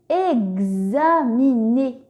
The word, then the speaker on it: examiner: Et enfin, dernier mot, examiner. Est-ce que X fait le son X, X, S, Z ou X est muet dans le mot examiner? Très bien, X fait le son X, GZ. Examiner.